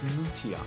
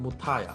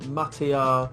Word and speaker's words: Mutia: My last name is pronounced Mutia. A lot of people, or if you're in Sri Lanka, they pronounce it Mutaya. But a lot of people just butcher my name. They're like Matia, Mutai.